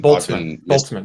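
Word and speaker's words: Boltzmann: of quantum theory so did you say it was a Bolston brain boltzman the word you the word you were imagining B pronunciation because I've been boltzman just look up boltzman brain b o l TZ before it's a cosmology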